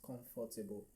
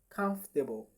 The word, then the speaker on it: comfortable: Now many persons pronounce this as comfortable.